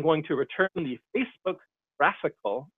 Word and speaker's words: GraphiQL: /GraphQL route, I'm going to return the Facebook graphical, it's spelled GRAPHIQL, graphical, IDE.